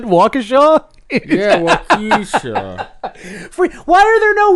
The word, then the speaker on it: Waukesha: gonna take a trip down to walk Issa and we're gonna check out the fairground he mispronounced it Waukesha wait why are there